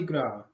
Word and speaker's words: Gras: okay and then girl because the S is silent oh Gra that means